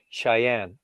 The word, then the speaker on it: Cheyenne: Like I am so shy. But it's Cheyenne.